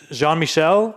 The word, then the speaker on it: Jean-Michel: It's so pronunciation. I'm guessing it's Jean-Michel.